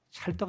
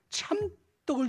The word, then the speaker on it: 참떡: 이걸 어떤 분은 찰떡이라고 읽더라고. 찰떡 아니에요? 참떡이에요. 참떡. 참떡을 주시나니.